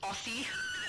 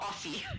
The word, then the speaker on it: Aussie: They said that I was saying Aussie wrong because they're S's and not zeds. And I'm like, I am Australian. I know how we say that. And sometimes different places pronounce things differently. And Aussie is pr pronounced Aussie even though it's s's. And man, they didn't believe me. They were saying, "You don't even sound Australian. You're definitely lying. It's definitely Aussie."